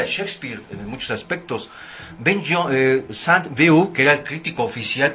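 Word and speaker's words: Sainte-Beuve: En ese tiempo el crítico Saint-Beuve, o B.A.V., así como se escribe, era un crítico muy refinado.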